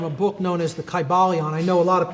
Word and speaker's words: Kybalion: It would have been a long I sound, Kybalion, and every syllable would have been pronounced.